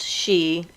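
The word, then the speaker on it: sidhe: a female she so s-i-d-h-e is the name of the irish fairy folk and it's pronounced she as well so in ireland anything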